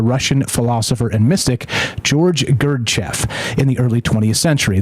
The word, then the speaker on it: Gurdjieff: developed by the Russian philosopher and Mystic George gerf in the early 20th century that's link is